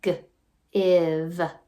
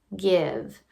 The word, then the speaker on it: give: So this word, this e is actually kind of lazy helping out v. It doesn't change the vowel sound at all. It's just there to make sure a word doesn't end in v like in give, give.